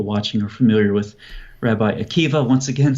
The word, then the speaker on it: Akiva: go back to rabbi akiva very big name obviously i'm sure most people watching are familiar with rabbi akiva once again spelled with a b a at the end but pronounced with a v and the goal of